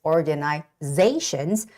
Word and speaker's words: organization: volunteers volunteers volunteers and the word organization has the stress on the one two three fourth syllable which is organizations after Z there's an a right so it's got to be organizations organizations the word sponsors we see